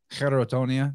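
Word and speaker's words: Cheirotonia: I guess why I didn't realize it is because I never had the context of all those other words, Cherotonia, that's how you say it.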